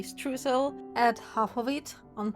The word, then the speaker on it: Streusel: To be honest, it's kind of weird for me to pronounce it this way. I learned German, so a more natural way for me to say this word would be Streusel, but let's say Streusel.